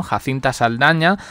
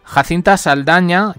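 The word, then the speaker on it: Jacintha Saldanha: Jacinta Saldaña, que aunque yo estoy pronunciando el nombre en español, realmente no se escribe así. Jacinta lleva TH y Saldaña lleva NH.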